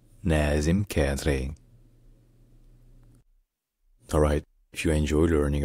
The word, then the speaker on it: Nazem Kadri: In Lebanon, in Arabic, his name is pronounced Nazem Kadri. Nazem Kadri. Nazem Kadri.